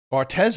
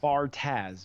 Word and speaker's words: Bartaz: Bartez or Bartaz? Bartaz.